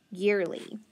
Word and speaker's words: yearly: The e is long and the a is silent. So ear, year, and then add the ly, which says lee, yearly.